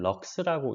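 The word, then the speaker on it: lux: 럭스, LX를 럭스라고 읽어요.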